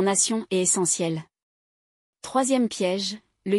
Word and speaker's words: nation: Ce T est un imposteur. Il se prononce S comme dans nation est essentiel.